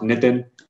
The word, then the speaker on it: Nitin: reference so uh just my name is pronounced nitin uh you know it's kinda like saying nathan but with eyes so you'll get it